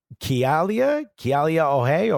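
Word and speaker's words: Kealia Ohai: Her name is, I believe it's pronounced Kialia Ohai or Ohai.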